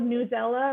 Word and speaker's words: Newsela: know this particular tool newsela or news ela i've heard it pronounced both ways but it's an um